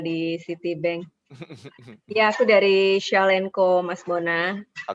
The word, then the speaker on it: Shawlnco: Ya, aku dari Shell& Co, Mas Bona. Oke, Pengucapannya seperti Shell aja. Shaw& Co Bukan ya. Shell, Oke.